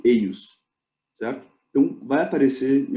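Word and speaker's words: eius: Não vai ser dito ejos, vai ser dito eios, certo?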